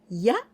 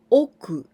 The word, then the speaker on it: 屋: We pronounce this kanji ya or oku.